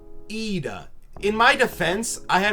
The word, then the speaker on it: Ida: from my friends her last name is not pronounced Ida it is pronounced EA in my defense I had a 50/50 chance